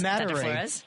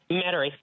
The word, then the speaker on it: Metairie: Metairie. I never pronounce it correctly. Metairie is where a lot of my family reside. Metairie.